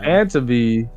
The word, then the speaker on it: Tantive: Tantive?